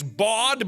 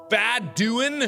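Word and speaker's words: Badouin: Even though my name is literally Bad-Doin', I'd like to think it's Bod, but I'm pretty sure it's pronounced Bad-Doin', as in I'm doing bad.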